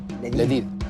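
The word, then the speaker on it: لذيذ: Ladid. Ladid? Ladid, yeah.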